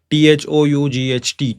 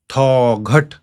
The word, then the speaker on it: thought: T-H-O-U-G-H-T, thought. Hmm? Thoghat. We don't say thoghat.